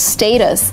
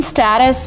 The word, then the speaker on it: status: it's not more academic in American English we say status not status and just because you